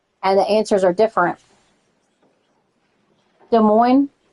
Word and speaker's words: Des Moines: De Moines, you don't pronounce the S. De Moines.